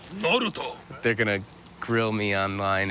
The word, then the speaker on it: Naruto: How do you, Naruto? What is it? It's Naruto? Naruto. Naruto? You have to say it like that. Naruto.